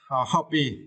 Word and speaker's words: hobby: And for the next word, hobby, it is now, right? And for this word, you need to stress the first syllable, half.